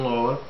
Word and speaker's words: Loa: I am your host, Loa. Loa, pronounced Lo-a, spelled L-O-A.